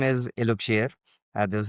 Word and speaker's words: Eluxier: So um our brand name is Iloir. uh this is how we pronounce it and our tagline the the the